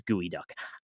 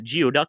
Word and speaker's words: geoduck: It's not geo, it's not duck, and it's certainly not geoduck, but then why is it?